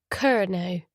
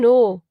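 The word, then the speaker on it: Kernow: Welcome to G now, she reads from the sign, pronouncing it Kerno. Ko, I correct her. It's Cornish for Cornwall.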